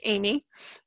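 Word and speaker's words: Amis: Even though it's A-M-I-S, it's a French name, and it's pronounced Amy.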